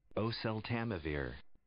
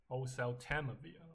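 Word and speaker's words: oseltamivir: or sell tell time my or sell time my work. That's quite hard. That's Osel Tamavir. Osel Tamavir, okay.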